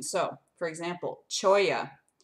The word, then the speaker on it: cholla: So, for example, cholla, pronounced cholla, it's C-H-O-L-L-A, a stickery cactus native to the Sonoran Desert.